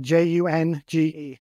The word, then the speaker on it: Junge: name for everybody, because it sounds one way, but then it isn't as far as the way it's spelled. Tell everybody how to spell your name as far as when they're searching for you on Facebook. Yep. It's J-U-N-G-E. So Junge is spelled J-U-N-G-E. So the first time I heard and met Greg, and I was calling him Jung, and he's like, no, that's not quite right.